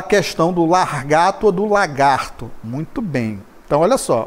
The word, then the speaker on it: lagarto: Não se fala largato, né? A pronúncia correta é lagarto.